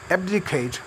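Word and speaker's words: abdicate: ایبڈیکیٹ، اس میں اے کے اوپر سٹریس ہے.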